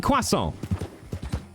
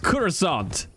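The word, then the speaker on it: croissant: a quasa it's pronounced kurant yeah get me the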